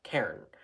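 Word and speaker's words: cairn: she said Karen like pronounced it as two syllables c a i r n Terrier so it's one syllable Karen but I swear she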